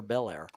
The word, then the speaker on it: Belair: How do you pronounce it? Belair or Belair? Belair. Okay, like the car. Yeah. Okay. Yeah. Or the cigarettes.